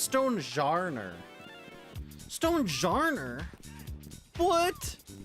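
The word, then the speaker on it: Stonjourner: And they said no it's not stone jourer. It's stone jer.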